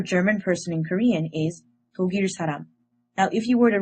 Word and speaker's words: 독일 사람: However, Korean people actually pronounce this word as 독일 사람. What happens is that the 기역 character moves to the next syllable. This is called resyllabification.